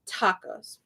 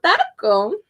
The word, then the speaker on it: taco: So taco is it's not a hard T, it's a soft T. So it's softer than in English.